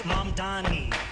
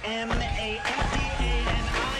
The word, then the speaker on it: Mamdani: The name is Mamdani. M-A-M-D-A-N-I.